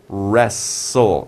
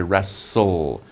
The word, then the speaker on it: wrestle: wrestling to wrestle wrestle that's a little bit of a difficult word you have w r r wrestle and it's tle e you don't say t right you say wrestle wrestle it's like you don't